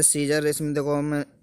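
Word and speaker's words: Caesar: अब इसमें देखो, ए जो है ये आपका साइलेंट है, इसका ये सीजर का मतलब होता है जी रोमन सम्राट।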